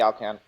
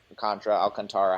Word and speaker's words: Alcantara: I thought it was going to be Sandy Alcantra Alcantara, however you want to say his name. It's been both depending on where he's been.